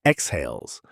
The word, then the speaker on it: exhales: Take the word exhales. Stress falls on the second syllable and that stressed vowel is the dip thong. Ei, the same gliding sound as in bait.